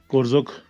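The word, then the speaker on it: Korzok: एंड ये है जी कोरजोक village बहुत सारे नाम मैंने इस बार अपनी ट्रिप में करेक्ट किए हैं। इसे करजोक बोलते थे हम कारजोक नहीं है कोरजोक है और सो मुररी नहीं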